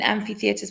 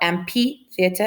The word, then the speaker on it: amphitheatre: should know or seen amphitheaters before please not it is pronounced and fee and not MP theater it's an amphitheater all right this is